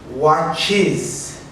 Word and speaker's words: watches: the way we pronounce listen watches is it's an extra syllable okay now what about